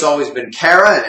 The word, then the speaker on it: Kara: It's kind of I guess a short A, a throwaway A.